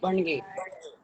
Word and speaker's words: Bhanage: I'm pronouncing your name. Bange.